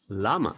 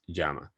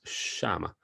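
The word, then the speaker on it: llama: say seama say Jama be very careful with the Double L because most people think that is pronounced Lama as in the animal and it's not that pronunciation is Jama now some countries in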